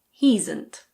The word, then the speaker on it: he'sn't: He is not can be pronounced he'sn't. He'sn't.